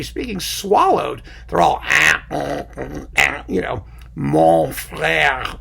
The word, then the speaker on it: frère: You have to be doing and you pronounce those last letters, frère, whereas you don't say that in spoken French.